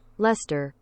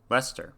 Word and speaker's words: Leicester: yesterday soccer okay um pronunciation thy sister lister huh interesting lester lester okay um so jeffrey goes